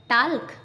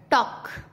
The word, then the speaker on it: talk: के से पहले TALK टाल्क, नो नो। टॉक, वॉक, चौक।